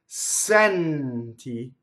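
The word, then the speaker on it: senti: Going on, sɛnti, so there's an N going into the T, open E.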